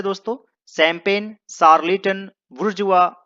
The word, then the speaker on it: bourgeois: दोस्तों, इसे बुर्जुआ पढ़ते हैं, बुर्जुआ, BOURGEOIS, और इसे पढ़ा जाता है बुर्जुआ।